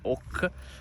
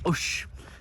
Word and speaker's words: Auch: Abbiamo scoperto che non si dice Auch, ma si dice Auch.